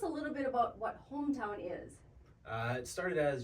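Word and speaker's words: Holmtown: their pencils out because you spell it for us h o l m Town see very easy but you know you say it really fast it sounds like Hometown which is really the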